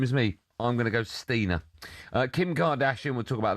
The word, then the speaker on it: Steiner: Although it's spelled the same as me. I'm gonna go Stina.